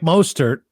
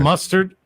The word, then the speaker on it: Mostert: So I think everybody's saying it wrong. It's Mostert. Okay, so everybody says it wrong, which is fine.